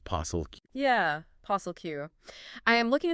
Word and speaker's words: POSLQ: P-O-S-L-Q. Pronounced possil.